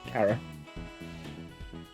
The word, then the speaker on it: Chara: but with Frisk holding Chara's main motivations and the two constantly being connected. Instantly, do you pronounce it Chara or Kara? Kara. I would say Kara because I think it's like character.